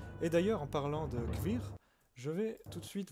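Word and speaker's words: Kveer: Ce manoir s'appelle Kvir. Ça s'écrit K-V-E-R.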